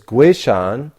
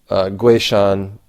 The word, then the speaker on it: Guishan: And in fact, this is really interesting because Guishan is, that's the pinyin pronunciation of his name, or Guishan in Wade Giles or something like this.